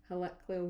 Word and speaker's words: heliacal: The heliacal rising of Sirius.